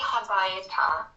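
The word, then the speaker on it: הביתה: We put a hey on the end to show direction to a place. But it doesn't take the accent. The accent on the word stays the same.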